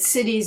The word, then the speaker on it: siddhi: I'm just going to add that cities is spelled S-I-D-D-I, not C-I-T-I-E-S.